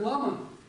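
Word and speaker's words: བླ་མ: И получается слово «лам». Я не знаю, я вот не думаю, что это нам сейчас нужно, но по просьбам трудящихся. То есть то, что в центральном Тибете произносит как «лама», в Бутане произносит как «лам».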